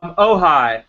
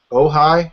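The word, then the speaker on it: Ojai: what town is he in in California um ohigh that's why this is ohigh Beverage Company yes ohigh how do you spell that oh o j AI we uh were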